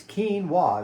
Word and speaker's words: quinoa: It looks like quinoa, but it's quinoa is how you pronounce it.